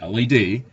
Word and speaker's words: lead: The density of lead, pronounced LED, is 11.342 grams per centimeter cubed.